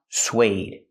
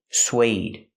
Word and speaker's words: suede: This word is pronounced suede. Suede. Use the w sound, like in what and where, sw, sw. Plus the long A, like bake a cake. Sway, suede. It's a material.